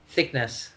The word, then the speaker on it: Thicknesse: How is correct way to pronounce your family name? Thicknesse.